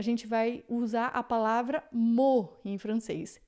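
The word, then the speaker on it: mot: Quando a gente quer só o termo mesmo, a gente vai usar a palavra mo em francês.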